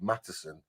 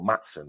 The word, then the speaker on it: Maatsen: Mudryk out to the left with Maatsen, or Maatsen, I believe it is, as you pronounce it, on the left-hand side.